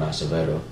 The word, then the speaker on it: Acevedo: in puerto rico and he was called cyclone acevedo that's how you actually pronounce her last name he wore a mask